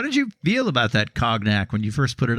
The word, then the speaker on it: cognac: Well, if we must use the French pronunciation.